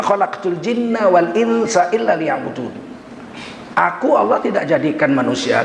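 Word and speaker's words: ليعبدون: Maka sunat membacanya mulutnya ke bawah. Ismam sirri. Illa liya'budun. Nah, walaupun bunyinya enggak berubah.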